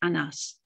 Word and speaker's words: Anas: allows light to shine anas is of hebrew derivation pronounced on us which means a giant